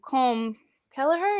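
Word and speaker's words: Colm Kelleher: looking into nids a little more and um com kelleher is how you pronounce his name you guys know him he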